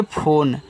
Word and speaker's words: phone: देखो लास्ट में जो ई होता है इसका उच्चारण हम नहीं करते क्योंकि यह आपका एक इंग्लिश वर्ड है।